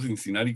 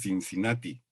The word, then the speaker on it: Cincinnati: Que mira, yo pronuncio Cincinnati como en California, pero tú pronuncias Cincinnati.